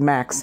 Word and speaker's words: MX: M for and X as an X, and then I was just going to go by one name and pronounce it Max, MX.